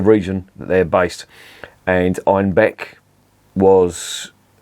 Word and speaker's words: Einbeck: Einbeck, in the Bavarian dialect, they pronounced it Einbock, and Einbock means billy